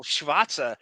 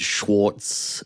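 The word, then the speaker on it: Schwartze: made me think that so shatza is spelled s c h w a r t z e uh I would have said Schwarz I would have read Schwarz read Schwarz as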